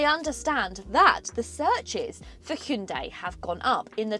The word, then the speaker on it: Hyundai: about the way that I say Hyundai or Hyundai as they'd like me to pronounce it yes I do know the real way of pronouncing it but I guess